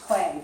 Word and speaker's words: Klee: His name is Paul Klee. The Klee is pronounced clay, just like modeling clay.